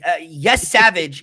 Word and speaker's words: Yesavage: But Yes Savage is a dominant.